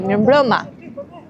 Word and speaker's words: mirëmbrëma: And if you're going to say good evening, you're going to say mirëmbrëma.